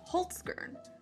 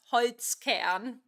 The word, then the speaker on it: Holzkern: Today's sponsor is Holzgern. Holzgern is a young Austrian company that designs unique crafted watches. Sorry, I just have to interrupt. As a German, it's pronounced Holzkern.